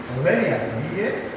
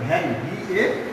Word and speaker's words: vary: ওকে, এইভাবে আমাদের parts of স্পিচগুলো বুঝতে হবে যে ভেরি না কিন্তু এটা ভ্যারি, VAR উচ্চারণ, ভয়েস ফলা আকার।